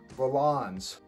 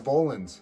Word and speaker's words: Volans: affordable yayo grand aveo valons or volans as she said apparently i've been saying it wrong this whole time but they've got